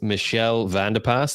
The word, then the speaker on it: Michelle Vandepas: and the lucky one for for tonight is Michelle vanderpas that is the correct pronunciation from from our conversation previous and she's